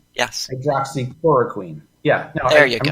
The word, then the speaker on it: hydroxychloroquine: Hydroxychloroquine? Yes. Hydroxychloroquine.